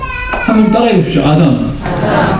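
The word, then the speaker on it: אָדָם: 이 사람이라는 히브리어를 하나 가르쳐드리면 이 사람이라는 히브리어가 아담. 한번 따라해 보십시오. 아담. 예, 여러분들이 히브리어 발음으로 사람이라는 발음을 하신 것입니다.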